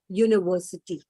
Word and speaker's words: university: So the first sound you're getting is year. Okay, so it is university.